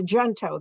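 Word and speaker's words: Junto: up a weekly meeting called the jento that's how we pronounce it there everyone and um I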